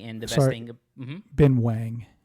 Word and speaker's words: Ben Wang: Ben Wang. Are you sure about that? I am sure, yes. That's the pronunciation of W-A-N-G, even though it's Shang-Chi and not Shang-Chi.